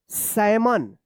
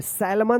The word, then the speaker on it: salmon: चलिए अब देखिए यहाँ पे SALMON, क्या पढ़ेंगे, सैमन। क्या पढ़ेंगे, सैमन पढ़ेंगे, सैलमन मत पढ़िएगा, सैलमन। क्या होगा, यहाँ पे जो है ना एल साइलेंट होगा।